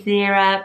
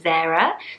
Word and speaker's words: Zira: so I would say Zira but some pronunciation of it is more like Zira so more like Sarah but with Zed which is also really